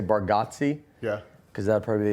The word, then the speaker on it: Bargatze: Nate Bargatze? Yeah. Did I say it right? Yeah, Bargatze. Yeah. Bargatze. People say Bargatze a lot. I'll be honest with you, I think our family says it wrong.